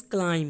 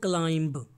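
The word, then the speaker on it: climb: क्लाइम, क्लाइम, and that is क्लाइम, नॉट क्लाइंब, okay, B is silent hair.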